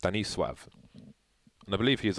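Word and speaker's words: Stanisław: the bomb site trivia stanislaus named in Polish would be pronounced Benny suave and I believe he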